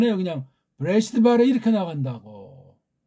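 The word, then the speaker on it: בְּרֵאשִׁית: 와 있잖아요 그러니까 이걸 갖다가 프 레스트 그렇게 발음 안 해요 그냥 브레시트 바라 이렇게 나간다고 그 브레시트 바라 이렇게 나가다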